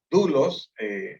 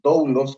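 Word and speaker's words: δοῦλος: Y que el término de abajo, doulos o doulos, como lo pronuncian otros, que es el término para servidumbre, significa vínculo matrimonial.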